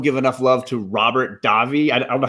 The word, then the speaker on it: Davi: and 90s don't give enough love to robert davi i don't know how to say his last